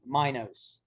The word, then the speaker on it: Minos: I want to say mignos but how do you pronounce your last name all the vowels are long Minos Minos oh say okay uh